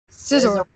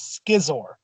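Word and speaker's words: Scizor: of Scyther how do you pronounce it scissor and anyone else is wrong there's easier way to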